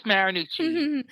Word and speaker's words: Marinucci: love to introduce you to is it marinucci did I pronounce that correctly yes she did it is marinucci wonderful it's so nice to meet you